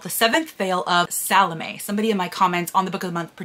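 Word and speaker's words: Salomé: Sylvia Marina Garcia called the seventh veil of salame somebody in my comments on the book of the month prediction video corrected my pronunciation of that so apparently it is pronounced salame and this again was one of my predictions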